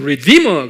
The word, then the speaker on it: redeemer: redeemer 그래요. redeemer. 입으로 하면 redeemer. 액센트가 D에 있어요.